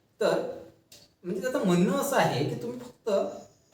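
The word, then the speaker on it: Foucault: तर तो notable person त्याच नाव आहे मायकल फक किंवा त्याला फुक सुद्धा म्हणतात आता मराठीच्या जर इतिहासाच्या पुस्तकात त्याला मायकल फुको म्हणतात आणि इंग्लिश मध्ये त्याच स्पेलिंग आहे मायकल पकड ठीक आहे तर तुम्हाला जसं वाटते तसं तुम्ही म्हणू शकता काय त्याचं नाव मायकल्ट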